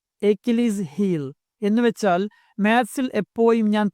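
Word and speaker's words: Achilles' heel: ഇനി number 4, എക്കിലീസ് ഹീൽ. ഉച്ചാരണം ശ്രദ്ധിക്കുക. എക്കിലീസ് ഹീൽ എന്നാണ്.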